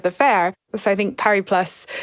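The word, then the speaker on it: Paris+: fair so I think par plus it is uh important that we pronounce the S par and I was amused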